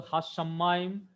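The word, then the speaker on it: השמים: Here also only one vowel it, so it is closing the syllable. About the Hashamayim, just now I have given you the clue on whiteboard.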